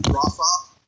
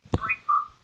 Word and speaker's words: Breithaupt: Breithaupt. Breithaupt. No, it's actually Breithaupt. Breithaupt. The son is right, but it's not. Breithaupt.